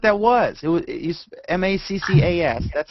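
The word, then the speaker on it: Maccas: didn't know what that was it was he's m-a-c-c-a-s that's how they that's it colloquialism for um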